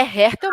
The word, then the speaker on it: Hertel: É Hertel mesmo. Hertel mesmo. Hertel. Igual se fala com R.